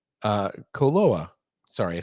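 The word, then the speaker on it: Koloa: very distinguishable flavored rums um those rum even KOA uh coloa sorry I said it wrong coloa from Hawaii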